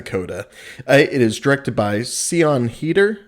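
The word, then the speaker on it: Siân Heder: it is directed by ceon heater i believe is how you pronounce the director's name and she directed a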